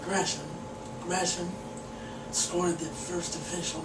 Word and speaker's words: Gresham: I noticed in prior episodes I said Gresham. Just a habit of how you normally pronounce the name. I do apologize, Jermaine, if by some miracle you're watching this series. But it is Jermaine Gresham.